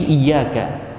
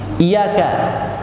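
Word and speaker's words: إِيَّاكَ: Jangan sampai bacanya tidak tasydid, iyyaka, iyyaka, malah dibaca iyyaka, tidak tasydid. Kalau iya maknanya dau'us syamsi, cahaya matahari. Jadi harusnya hanya kepadamu kami beribadah. Kalau iyyaka, cahaya matahari kami sembah.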